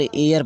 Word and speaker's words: heir: यहाँ देखिए ये यहाँ पर HEIR, यह काउंटेबल नाउन H से शुरू है लेकिन इसका उच्चारण करने पर एयर पढ़ रहे हैं। इसको एयर में इसे पढ़ेंगे एयर पढ़ते हैं, एयर।